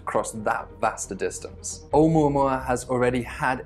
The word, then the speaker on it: 'Oumuamua: You pronounce it Oumuamua. That's Oumuamua. And that's appropriately a Hawaiian name after the Hawaiian telescope which discovered it, which means a messenger from afar arriving first.